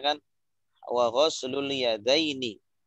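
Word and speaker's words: يدين: Nih, ini kan kemungkinannya bisa dibaca yadina. Ya, bisa dibaca yadaini. Kenapa tadi Pak Gunarso bacanya yadaini? Nah, karena ini isim musanna. Kita harus tahu ini musanna. Kalau musanna itu pasti akhirannya kasroh. Aini. Kalau jamak mudzakkar salim, ina.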